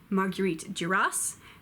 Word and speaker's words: Marguerite Duras: different Margaret's m'hijita Jacques ma guiit do Hoss Marguerite Duras and Marguerite yo se na ma you a